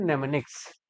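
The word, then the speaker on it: mnemonics: इसी को बोलते हैं नेमनिक्स। क्या बोलते हैं भाई? नेमनिक्स बोलते हैं। और नेमनिक्स में एम साइलेंट होता है।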